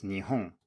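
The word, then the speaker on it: 日本: and in japanese it's nihon written with the same two characters but obviously not pronounced the same now the reason i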